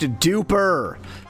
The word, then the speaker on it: Dupre: It's pronounced duper.